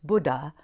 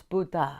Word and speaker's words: Buddha: please forgive me because I pronounce Buddha the way that I've heard it and if we say it wrong it means old man so I'm including a link to how to properly pronounce Buddha it's a soft D and I don't say